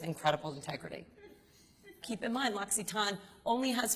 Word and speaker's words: L'Occitane: So, the L'Occitane family, I'll tell you a little bit about them if you don't know, and the way you pronounce it is L'Occitane.